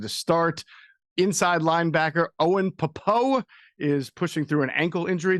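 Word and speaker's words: Pappoe: Inside linebacker Owen Popo is pushing through an ankle injury. Did I pronounce that correctly, guys? Popo? Yes, and he's a starter now.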